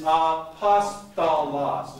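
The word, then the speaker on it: ἀπόστολος: The first word is, now just listen, the first word is apostolos. Now say it. Apostolos. Now here's how you pronounce the next word.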